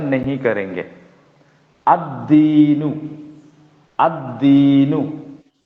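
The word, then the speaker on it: الدين: अद्दीनु, अद्दीनु। ठीक है, यहां लाम का प्रोनाउंसिएशन नहीं हो रहा है।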